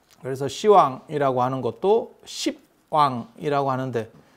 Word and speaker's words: 시왕: 그래서 십왕이라고 쓰고 시왕이라고 읽는 게 아니야. 그냥 시왕이라고 쓰고 시왕이라고 읽어.